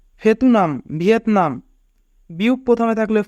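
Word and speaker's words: 베트남: থিউত প্রথমে থাকলে থ, উ রাষ্ট্র থু, ইয়ং উপরে থাকলে ইয়ং এর উচ্চারণ হয় না, আ নিয়ন নিচে থাকলে তার আন। থুয়ান। ফেতুনাম ভিয়েতনাম।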